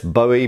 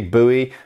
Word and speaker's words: Bowie: some stuff on the Bowie knife, or Bowie knife. I understand there's two pronunciations for this, Bowie, Bowie. I don't personally care very much. I say Bowie because I'm British.